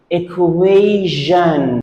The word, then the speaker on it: equation: should it pronounce this we pronounce it equation equation t-i-o-n is pronounced Jean so we say it inclusion equation